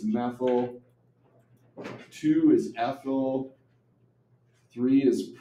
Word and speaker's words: methyl: And then you pronounce it methyl, okay? So this guy is meth, but because it's a branch, we say methyl.